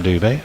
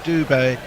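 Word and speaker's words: Dube: Says the Indian lads on my cricket team say that Dubé is pronounced like booby with a D. Booby, so Doobie. No, he's not. Sorry. Just think Frank Sinatra, as in Booby Doobie Doo.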